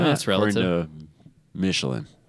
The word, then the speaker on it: Michelin: You don't pronounce Michelin. The N, remember? Michelin. We went over Michelin.